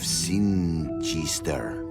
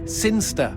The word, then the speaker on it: Sinister: But Elliot Thomas was still stuck down on Earth in the boring town of Sinister. Sinister. Sinster. What? It's pronounced Sinster.